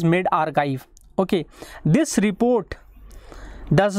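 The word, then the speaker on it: medRxiv: OK this Spike the report is called as mid archive but spells as m e d x r i v in small case it is its pronunciation is made archive okay this report does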